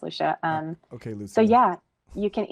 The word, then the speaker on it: Lucia: My name is spelled like Lucia. It's pronounced Lucia.